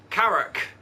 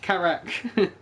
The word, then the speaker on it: Karak: Karak, like a carrot. No, Karak. Karak!